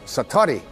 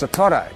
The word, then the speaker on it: satori: And he had what is called in Japanese it's called, excuse my Japanese, but it's called satori.